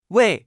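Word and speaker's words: 位: repita en voz alta se pronuncia con el cuarto tono we es un clasificador numérico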